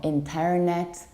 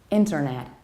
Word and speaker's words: internet: widely mispronounced mostly because the majority of people stresses the incorrect syllable another reason they say internet or in perronnette no we stress the very first level internet or even an American